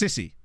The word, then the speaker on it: Cisse: No accent on the E, so it's just Sissy.